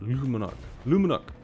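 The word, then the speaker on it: Le Monarque: monarch if you want to know how to pronounce it lumenok mmm I could never say that right in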